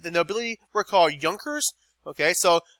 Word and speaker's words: Junkers: right the nobility recall Yonkers okay so it looks like Junkers but it's pronounced Yonkers okay now I'd be